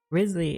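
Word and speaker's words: Wriothesley: The next character to come out is, Risley is how you, I think, pronounce his name. Even though it looks like real Thessley, but he's the actual Riz.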